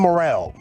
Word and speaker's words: Morril: Sam Morril, comedian Sam Morril. Morril? I think you're right. Morril. Okay, moral. I read it moral.